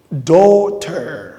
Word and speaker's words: daughter: roommate, wife, husband, son, daughter. Do kolanda G wana te. En anglais to prononcera G te mingi mingi. G is a silent. G is silent.